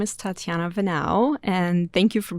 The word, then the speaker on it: Tatiana Venao: me for for everyone so my name is tatiana vanau and thank you for pronouncing that right because majority people really butchered